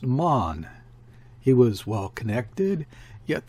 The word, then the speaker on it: Mahon: was mahon but he insisted it should be pronounced mon he was well connected yet there was something